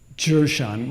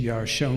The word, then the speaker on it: Jershon: The question has to do with Jershon, with the accent of the first syllable, as opposed to Yarshon, where the accent is on the last syllable.